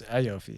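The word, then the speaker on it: Iofi: say it how do you say iopi it's iopi yeahi what's the teen doing there whenever you're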